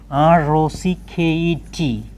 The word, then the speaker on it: rocket: You can note final et, final et is normally pronounced it.